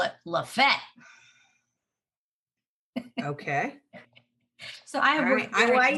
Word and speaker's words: Lafayette: that going on and then we have one that's spelled lafayette like in louisiana but in georgia they call it la fete okay so i have i work hard to